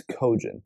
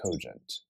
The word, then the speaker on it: cogent: Let's see if it's cogent. That word is pronounced cogent.